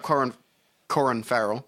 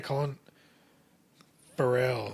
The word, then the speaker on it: Colin Farrell: All right, you look up Corin Farrell. Corin Farrell. Colin Farrell. Corin Farrell. Oh boy. Oh, it said it right there. Colin Farrell.